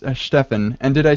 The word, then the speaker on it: Stephan: And Stephen Boneman. Well, hi, everyone. And I mispronounced that. That's Stefan.